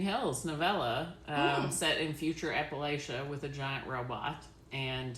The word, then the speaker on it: Appalachia: It's actively, physically hurting me that you said it wrong, but I'm gonna try to respect where y'all are from. Appalachia? Or Appalachia, is that how you want me to say it?